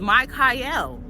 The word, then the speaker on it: Michael: My name is Mike Kyle. I have the biblical pronunciation of the archangel Michael who means defender of mankind.